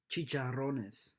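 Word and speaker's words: chicharrones: scientists or cheaters by the way guys it's pronounced chicharonnes Clemson's blowout was trending that was the college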